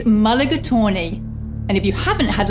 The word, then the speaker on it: mulligatawny: It's quite a mouthful, the pronunciation that is. It's mulligatawny.